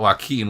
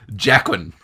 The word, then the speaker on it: Joaquin: So it's I also thought Joaquin was Jacquin.